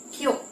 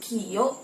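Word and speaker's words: きょ: Misalnya huruf Q ditambah yo kecil maka akan menjadi qyo. Jadi melebur ya, bukan kio, tapi qyo.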